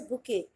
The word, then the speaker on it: bouquet: BOUQUET, इट्स अ बुके। जो flower बुके होता है ना, तो बुके होता क्या है? इट्स a bunch of flowers. तो जो फ्लावर्स के जो बुके होते हैं उन्हें ही हम बोलते हैं बुके, बट इनकी स्पेलिंग होती है BOUQUET।